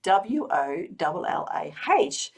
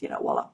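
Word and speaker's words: voilà: Yes, and this is, of course, a mispronunciation of the French word voila, meaning behold, and this is pronounced, voila.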